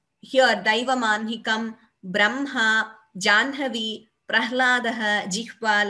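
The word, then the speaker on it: जाह्नवी: So, these are certain exceptions to where we pronounce in a particular way, though we write slightly differently.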